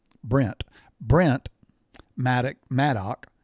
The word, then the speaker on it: Maddock: Brent Brent Maddock Maddo.